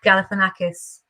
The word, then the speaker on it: Galifianakis: my name is Zach Galifianakis it starts with a gal and it ends with a kiss do-do-do-do-do I wish my